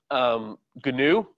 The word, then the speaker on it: GNU: So early last decade, GNU, or GNU, depending on how you want to pronounce it, came out and introduced